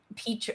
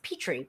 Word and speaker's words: Petri: Um, Petra, why do I keep saying Petra? I don't know. It's Petri.